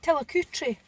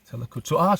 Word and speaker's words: Tillicoultry: Can you pronounce the name of the place we are? Because I'm going to embarrass myself. Tillicoutry. Tillicoutry.